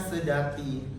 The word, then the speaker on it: Seudati: Contoh katanya itu kayak tulisannya Euri dibacanya Eri, atau Seudati dibacanya Sedati gitu.